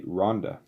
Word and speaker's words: Rwanda: is all about, and Rwanda, or if you pronounce it properly, Rhonda.